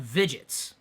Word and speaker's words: Vidgets: free, and it's called Vidgets. That's like the word widgets, but instead of a W, it's a V, which in some accents and in some languages, the W is pronounced like a V.